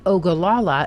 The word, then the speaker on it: Ogallala: OA yya or ogalala if you answered ogalala you're right but why is the